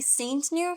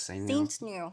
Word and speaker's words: Saintgnue: with cute bot over here we have Cody Saint new is that how you say it yeah s Saint new yeah yeah wow that's a cool last name